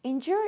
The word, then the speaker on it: endure: What sounds we have here? In, stress, and then j, jua, in, jua.